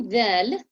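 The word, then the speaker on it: ظ: So say dhal, this, dhal, Fa. dhal. Dal. Now say the same thing in a heavier way.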